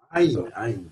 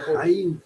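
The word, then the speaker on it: ע: Aïn, pas Haïn, Aïn. Aïn. Pour dire Aïn, tu fais rouler la gorge, comme ça, regarde. Alors, Aleph, c'est A. Aïn. Aleph. Aïn.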